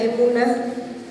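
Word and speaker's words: אמונה: confianza de nuestro Dios en en hebreo se pronuncia emuna Generalmente traducido como fe es confianza en Dios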